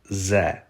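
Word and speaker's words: З: the English letter Z or Zed it is pronounced as za za the next letter doesn't really look like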